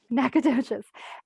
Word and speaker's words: Nacogdoches: who loves the outdoors he grew up in nacogdoches is that how you say it i'm not a tech i'm not originally from texas is that right jay that's right good job nacogdoches and moved to the dfw area at the